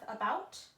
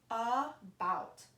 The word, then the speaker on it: about: words are pronounced differently about uh go round the a is not pronounced like we are normally used to with a long vowel a or the short vowel ah you hear a a